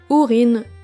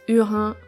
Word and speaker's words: Húrin: À droite, on a les enfants de Húrin ou Hurin. Ça dépend comment vous le prononcez. Moi, je dis Húrin, que j'avais beaucoup aimé.